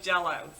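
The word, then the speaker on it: Jelo: come on sunday and his name is jello and no we're not saying it wrong it's spelt je l oh but they say jello so fragile and I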